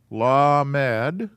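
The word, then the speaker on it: למד: called a i'm going to spell it out phonetically here la mad la mad and this one is a mem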